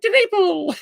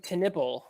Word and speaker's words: TenNapel: one of the levels, there's a voice that says Doug TenNapel is one of the audio sounds in the track. And so yeah, that's how I learned how to say his name.